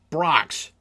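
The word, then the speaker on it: Brach's: try I'll try them all oh right it's pronounced Brocks so I guess I should have read it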